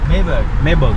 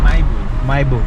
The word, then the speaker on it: Mahébourg: - Mahebourg in English. - Mahebourg. Mahebourg. - In French we say Mahébourg. - Mahébourg. Mahébourg in French. Oh! Mahebourg. Mahébourg. Okay. This area is called Mahebourg in English and Mahébourg in French.